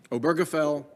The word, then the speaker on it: Obergefell: three of them right here roe versus wade obergefell and the obamacare case that's how it's pronounced the washington post someday i've heard it